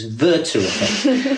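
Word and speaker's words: Werther: interesting point and it's um I'll correct your pronunciation, Hisha. It's it's German. It's Verter.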